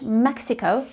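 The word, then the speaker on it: México: just like in english mexico but in spanish the correct way of saying it is mexico so the x is pronounced as joseon mexico not mexico mexico the second one is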